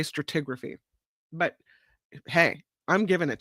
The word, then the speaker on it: stratigraphy: at you stratigraphy yeah they spell it without that o they don't say strator they say stratigraphy but hey I'm giving